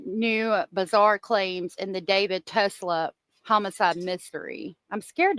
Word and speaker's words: D4VD: Burke, better known by his stage name, David, but spelled with a four.